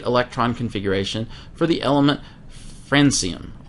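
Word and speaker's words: francium: configuration for the element frenum also sometimes pronounced frankum all right and it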